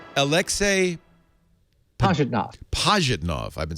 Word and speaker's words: Pajitnov: Pajitnov.